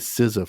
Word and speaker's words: SZA: How the hell do you get SZA from X? X is pronounced with a Z sound, right?